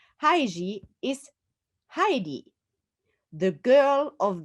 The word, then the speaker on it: Heissig: Heissig is the Japanese pronunciation of my last name, Heissig. Heissig is Heidi, the girl of the Alps, of the Swiss Alps.